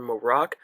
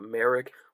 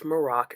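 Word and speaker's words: Marrok: their rise to power Ahsoka fights The Inquisitor morocc but we do learn that's how you pronounce his name it's not Merrick a lot of people oh my God it's Galen Merrick no it's morocc it's not Sam Whitworth don't worry and one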